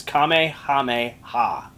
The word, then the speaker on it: Kamehameha: He spelled it phonetically. It's Kamehameha.